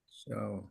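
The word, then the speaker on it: chao: це сполучення двох знаків вона читається як ч завжди Як ви прочитаєте цей варіант чао чао чао чао щоб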